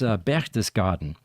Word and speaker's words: Berchtesgaden: It's Berchtesgaden.